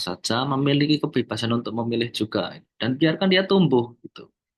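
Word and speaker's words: Dewey: Sementara e seorang yang namanya John Ju, tulisannya John Dewi tapi bacanya Ju itu melihat bahwa ee pendidikan seharusnya gak seperti ini nih.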